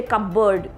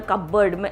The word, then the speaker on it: cupboard: okay and cupboard cupboard no you don't say cup bird keep it in the cupboard i have so i